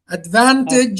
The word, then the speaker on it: advantage: Advantage. The second syllable is stressed.